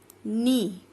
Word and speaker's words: knee: Knee, knee में भी case silent है और N से आप रीड कर रहे हो, तो ये क्या है आपका, एक नाउन है और यहाँ पे यूज होगा ए।